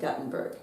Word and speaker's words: Gutenberg: And there's a Gutenberg, Iowa, but they pronounce it Guttenberg. Because they misspelled it.